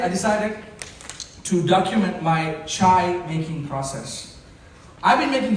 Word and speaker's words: chai: Talking about chai. One syllable. Chai.